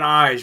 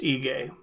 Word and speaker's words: Ige: is edson barbosa versus danish or egay i believe that's how you say it i've been saying eyes but it's ige eric anders corner telling